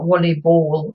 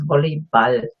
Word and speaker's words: Volleyball: Volleyball, nearly the same pronunciation, slight different pronunciation, spelling exactly the same. So it's not volleyball, it's volleyball. As with any sport really that ends in ball.